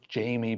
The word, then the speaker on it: Jamie: my own name so Jamie bamri if I say it like an American because if I say Jimmie everyone will think I'm saying Jimmy and then it just